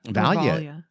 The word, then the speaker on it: Valya: Valia who told, and I hope I'm pronouncing her name right, it's Valya.